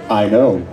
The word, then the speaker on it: SPEINO: I pronounce it I know.